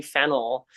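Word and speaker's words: Fennell: My name's Fennel, and fennel like the root vegetable with an extra L just to confuse people.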